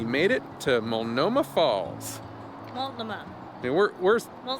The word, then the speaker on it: Multnomah: Multnomah. And we're Mul- saying that proud because we figured out that the T is silent.